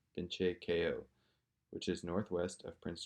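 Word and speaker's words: Binche Keyoh: I'm from a small community called Binche Ko, BINCHEKEYOH.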